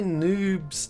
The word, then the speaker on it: noobz: And so back to Ohio Valley by noobz. Noobz, which rhymes with tubes.